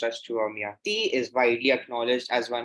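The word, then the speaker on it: Chua Mia Tee: Born in China, Chua Miati, pronounced as Chua Miati, is widely acknowledged as one of the greatest living artists today of which country?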